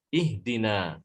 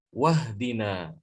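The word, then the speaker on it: اهدنا: kalau di wow ya jadi dibaca menjadi ihdina Ya seperti ini ihdina bacanya ihdina tapi kalau dia dibaca dengan lafadz sebelumnya Hamzah washal nya hilang wahdina Hamzah washol tidak dibaca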